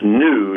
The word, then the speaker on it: GNU: take some spelling lessons the animal spell GNU is pronounced new not good news Oh wonder why he